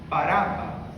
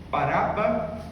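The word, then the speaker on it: Barrabás: Baraba. Baraba, pronuncia assim porque é a forma de pronunciar correta. Bar que significa filho. Abá pai. Filho do pai.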